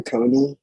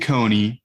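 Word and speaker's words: Kony: think it's like the leader the regime dictator coney remember i was talking about jose no no how do you spell that k-o-n-y he was the ugandan militant who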